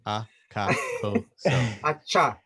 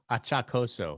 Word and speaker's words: Achacoso: It's as it's spelled, right? Americans Exactly. are such lazy enunciators. They're so afraid to pronounce each syllable of my name. Achacoso. Achacoso.